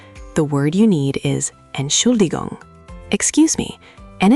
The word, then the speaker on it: Entschuldigung: Break it down. Entschuldigung. 4 syllables. The emphasis is on the second one. Entschuldigung. Try it. Entschuldigung.